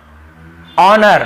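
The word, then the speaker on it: honour: को नहीं पढ़ना है देखिए ऑनर हम इसे क्या पढ़ते हैं ऑनर ठीक है हनर नहीं पढ़ते हैं एच नहीं पढ़ना है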